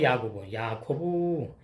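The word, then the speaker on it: יַעֲקֹב: 원어하고 뜻이 발음이 야코브요 야코브.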